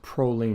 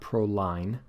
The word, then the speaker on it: proline: bit different prolene and by the way it's pronounced prolene not proline proline is the name of a trucking company